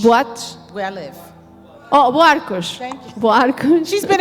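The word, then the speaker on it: Buarcos: Festivals, Festivais, up all night toda a noite, in Buakush. Am I saying it right? In My what? town? Buakush? Buakush. boates. Where I live. Oh, Boarcos.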